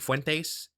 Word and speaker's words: Fuentes: Nick Fuentes. It's Nick Fuentes. Nick Fuentes. It's not hard to pronounce.